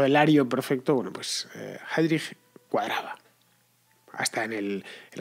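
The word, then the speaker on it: Heydrich: la novela va sobre heidrich heidrich es unos reinhard heidrich heidrich es escrito os lo deletreo por si queréis buscarlo es h e yd r i c h en español Sería pronunciado heidrich bueno pues es es uno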